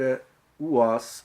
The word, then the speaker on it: was: Então, a pronúncia correta, a resposta correta é a pronúncia da letra A na palavra was corresponde à letra O em português.